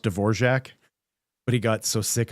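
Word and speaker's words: Dvořák: I think it was Radatic D'vorak, whose name is actually pronounced D'vorjac, but he got so sick of ever even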